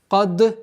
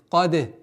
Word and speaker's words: قد: Каде. Кад, нет. Ошибка будет. Почему? Потому что даль мягкий звук. Да, у этого звука является присущее свойство калькаля, но не твердость. Кад, нет. Каде. Каде афляха. Применяем правило калькаля.